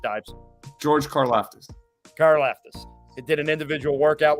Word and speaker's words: Karlaftis: So, and I know I just read that The kid from Purdue, I don't even, how do you pronounce his name, Dives? George Karlaftis. Karlaftis.